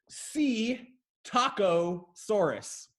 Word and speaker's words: Psittacosaurus: was really close actually it's C taco Soros you see tacos and you see a Soros this is the C taco Soros and they are so